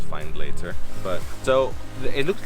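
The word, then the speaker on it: Findlater: it to the spot finland castle behind me over there spelled find later and i think it should be pronounced fine later but so it looks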